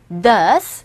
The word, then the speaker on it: thus: Thus, 이거 발음 조심하세요. 터스가 아니라 thus. 이 th 발음은 둘 중에 하나죠. 이거 아니면은 이겁니다. 그죠? 근데 얘는 thus가 아니라 thus.